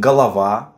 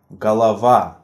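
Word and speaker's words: голова: up the next tip in addition to these rules pronounced unstressed vowels shortened and stressed vowels longer so in galava you quickly move through all syllables but hold a little unstressed one galava so you pronounced unstressed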